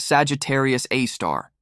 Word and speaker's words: Sagittarius A*: It's called Sagittarius A, pronounced Sagittarius A star.